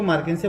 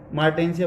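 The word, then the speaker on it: Marchantia: कुछ लोग इसको मार्केंसिया बोलते, कुछ मार्टेंसिया बोलते हैं, तो आप जो भी प्रोनाउंस करें।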